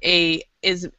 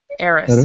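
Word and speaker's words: heiress: you would say AIS Aris so the H is silent on both of these words so AIS and so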